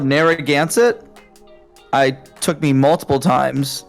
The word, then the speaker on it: Narragansett: it's called Narragansett. It took me multiple times to learn how to pronounce that correctly.